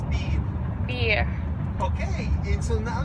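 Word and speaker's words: bir: So would you pronounce it as buyer or as beer?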